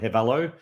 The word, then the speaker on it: Hivello: It depends what part of the world you're in. I'm an Aussie. I call it Hivello, but I mean, it doesn't matter. I mean, it's spelt the same way, whichever way you say it.